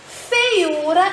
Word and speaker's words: feiura: E feiura é uma palavra paroxítona, que quando nós pronunciamos, a intensidade está na penúltima sílaba, o U.